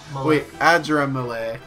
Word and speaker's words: Adramelech: Adramelech.